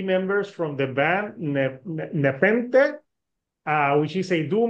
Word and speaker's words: Nepenthe: only one that gets it wrong but it's pronounced nepen well actually that's not quite true like the the ancient Greek sort of pronunciation is nepen but uh we say nepen because we think it sounds better oh okay